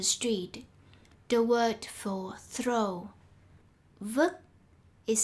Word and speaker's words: vứt: For example, words with t at the end are pronounced like with a k. This sign says, don't throw garbage on the street. The word for throw, vứt, is spelled incorrectly.